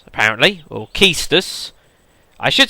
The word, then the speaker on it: Quistis: Quistis, apparently. Or Keistus. I should say Keistus. I believe it's actually pronounced Keistus, but I have always said Quistis, which I think is right.